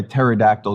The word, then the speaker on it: pterodactyl: gonna crack okay um why can't you hear a pterodactyl go to the bathroom I don't know why can't I hear tear that go to the bathroom because the P is silent I mean if I